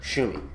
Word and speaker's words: Shumi: was a shumi and yes that's how it's pronounced shumi it sounds like it spelled like it sounds